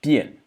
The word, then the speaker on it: 辡: Notice this character is pronounced bien. The big character is pronounced bien.